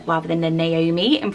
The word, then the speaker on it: Naomi: She does get people who sort of blend it and go Naomi, rather than the Naomi and pronouncing the O.